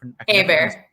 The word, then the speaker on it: Hebert: I can't Hebert.